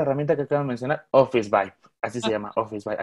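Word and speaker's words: Officevibe: Aquí está, es Carla Romero, y ya me lo escribió como se pronuncia, es Office Vibe.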